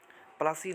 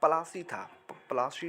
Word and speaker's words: पलाशी: चलिए नेक्स्ट, पलासी नाम किस तरह पड़ा, तो दरअसल असली नाम पलाशी था, जिसे अंग्रेजों ने बिगाड़ कर प्लासी कर दिया था अपने उच्चारण दोष के कारण।